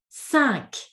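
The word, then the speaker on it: cinq: Number five is sank. Sanka sank. So weird because for that particular number we actually must pronounce the last letter.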